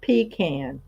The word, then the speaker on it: pecan: She pronounced it pecan, like a Yankee.